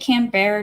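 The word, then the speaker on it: Canberra: that all right cool let's see did I pronounce it properly isn't it can bear not CA M crab is a manufactured City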